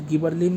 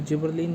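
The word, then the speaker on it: gibberellin: अगला आता है गाइस गिबरलिन या फिर जिबरलिन, जो भी आपको इसे बोलना हो आप उसे प्रोनाउंस कर सकते हैं।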